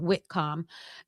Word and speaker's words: Whitcomb: So, the author's name is w h i t c o m b like comb, like comb your hair.